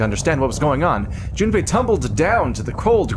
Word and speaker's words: Jun: Is that how you pronounce Junipe? Yeah, Jun. It's for Japanese. This is mostly phonetic.